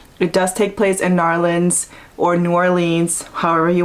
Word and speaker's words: New Orleans: in New Orleans and she told me that's how you pronounce it. She said, don't say New Orleans, say New Orleans.